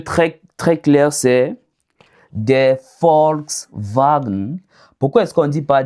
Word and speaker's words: Volkswagen: Autant pour moi, V en allemand est prononcé comme F et W est prononcé comme V. Un exemple très très clair, c'est des Volkswagen. Pourquoi est-ce qu'on dit pas des Volk wagon par exemple ?